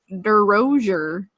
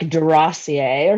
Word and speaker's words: DeRozier: DeRozier. It's bad. DeRozier. I was gonna go with like DeRossier or something. DeRossier is how it would be pronounced if we were in Europe or Canada.